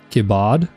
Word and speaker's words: Kibbard: They emphasize the bard. Kibbard.